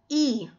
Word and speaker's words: ㅣ: Yung bigkas na I, E. So, maalin niyo ba kung sabayan? E.